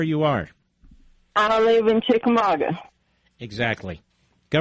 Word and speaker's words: Chickamauga: How do you pronounce where you are? I live in Chickamauga.